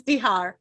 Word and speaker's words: Izdihar: Is it Izdihar? Is that how you pronounce it? Yes, Izdihar.